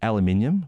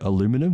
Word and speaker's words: aluminium: to point out that I said aluminium, which might be jarring for some of our listeners because I think they say aluminum. Does that sound about right? Is that how they say it in America?